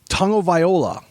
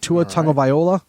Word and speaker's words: Tagovailoa: Tagovailoa, I believe is how you pronounce it. Tua Tagovailoa.